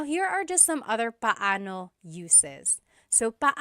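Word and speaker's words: paano: It's technically pano. Bano when there are two vocab or when there are two vowels together, you say them separately. But when speaking quickly, Filipinos just say now let's practice using pano and gano in some questions.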